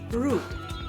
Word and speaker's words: route: in route, so it's rude. For instance, what's the best route to the city center? American English, usually pronounced with an OU sound like in out, so it's route.